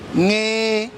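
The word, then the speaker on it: ṅ: This one is pronounced Nge, not Ne. Ne is N, but we pronounce it Nge, as if you are singing a song, Nge.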